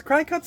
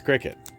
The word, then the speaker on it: Cricut: That's terrible cuz cry cuts are expensive. Crickets. I really want it to be cry cut. Okay, I'm I know it's Cricut, but I don't like that. I'm unhappy with that pronunciation.